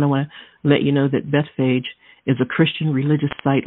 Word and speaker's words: Bethphage: and it reads like this now when they drew near jerusalem and came to bethphage b-e-t-h-p-h-a-g-e pronounces bethphage some people say beth fiji and it means house